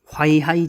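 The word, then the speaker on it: 淮海: 시이 화이하이 전역이 벌어져요 화이 하이는 뭐냐면은이 화이는 우리 우리말로 회수 있죠 회수 회수할 때 중국 발음으로 화 이거든요 그리고 해주 이게 중국 발음으로 하인 그러니까 회해 저역 우리말로는 회해 전역인데 중국말로는 하이하이 저역이 되는 거예요 자 거기가 어디다 여기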